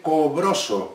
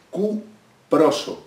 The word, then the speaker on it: cuproso: a ser óxido óxido no se dice cobros se dice cuproso cuproso cuproso y aquí